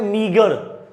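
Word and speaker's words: meagre: और यहां पे एक वर्ड है, इसकी प्रोनाउंसिएशन होती है मीगर।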